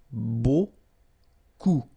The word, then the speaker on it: beaucoup: Remember, you don't pronounce the final P, okay? And then you get this combination of vowels, E, A, U, and you get the sound O. So technically it's beaucoup, okay?